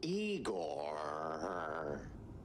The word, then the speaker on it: Igor: Igor, not Igor? No, Igor. Why so many Rs?